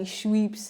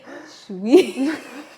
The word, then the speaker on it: Schweppes: I gotta make sure I say it right. Schweppes. I don't even know what you're trying to say. So. It's the brand. Schweppes. Schweppes. It's SCHWEEP.